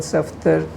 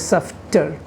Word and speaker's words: Safdar: FD, if indeed when they're introduced to a man called Safdar, they mispronounce the name as Saftar?